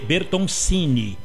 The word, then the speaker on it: Bertoncini: Isso, A gente fala disso já com o Bertoncini, ele que é Bertoncini, o Bertoncini italiano. Se escreve Cine, mas a pronúncia é Tini mesmo.